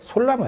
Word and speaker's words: 소나무: 솔나무예요. 솔나무. 솔나무가 그냥 소나무로 발음이 이렇게 되는 거지. 솔방울 하듯이, 솔잎 하듯이. 예.